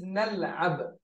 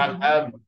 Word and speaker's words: نلعب: نلعب. yeah نحن نلعب كرة القدم. yeah you can pronounce it one by one no problem. you can say the first part is نل نل then you say عب.